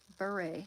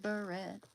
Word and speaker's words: beret: T is silent in French. Okay, then Prince said it wrong. He didn't he say rasberry beret?